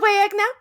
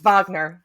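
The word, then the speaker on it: Wagner: freshen your coffee Mr wagna see that there you go actually I said his name wrong it's Vagner see I see this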